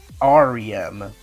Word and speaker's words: REM: one pronounced it, but I thought it was pronounced Arium. But apparently, if you hear it when you say it, REM, like the letters REM, as in REM sleep.